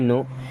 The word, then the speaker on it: know: हाउ to make tea अब देखिए नो में होता है के साइलेंट इसे पढ़ते हैं नो यू मींस आप डोंट